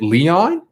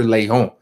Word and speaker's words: Lehom: how do you pre is it leon and i'm like no that's not how you pronounce it i don't go by leonard leon that's not my name it's dr lehom that's how you pronounce it because lay on the pedal comes from that i'm a doctor first